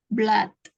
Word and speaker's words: blood: you already given blood blood Oh Blood ya jangan terkecau sama o-nya dua ya Tapi bacanya Blood bukan BL blue maksudnya mendonorkan darah miss